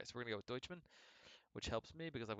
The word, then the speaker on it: Doucheman: okay so we're saying we're gonna say deutschmann in this throughout throughout the course of the movie uh trent comes up with multiple different ways to pronounce his name uh that is not doucheman even though that's how it's spelled uh so this thing